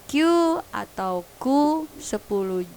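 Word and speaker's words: 九: Untuk Q dan Ju dibunyikan panjang.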